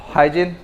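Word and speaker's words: Huygens: फिर एक आया हाइजीन, हॉगन भी बोल सकते हैं, उसका बेसिकली प्रोनाउंसिएशन हॉगन है, ठीक है, हॉगन्स प्रिंसिपल, ठीक है।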